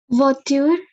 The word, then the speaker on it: voiture: Voiture. OI is Oa.